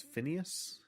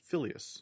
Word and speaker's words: Phileas: Now, I always thought it was Phineas, but the way it's spelled in this book is Phileas, so okay.